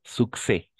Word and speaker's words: succès: Ah, succès. Success. Ujú. Très bien. Succès. El Ujú. succès. El éxito, ¿no? Succès. Ah, à chaque fois qu'on va trouver deux C joints, on va prononcer les deux.